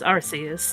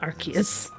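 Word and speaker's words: Arceus: punt you arus archus you know it's arus not archus inada see I always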